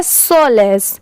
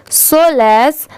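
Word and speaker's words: solace: एस इसे पढ़ेंगे finds यह है सोलेस सोलेस ठीक है एस ओ सो और एल ए सी E less सोलेस आई एन in knowing के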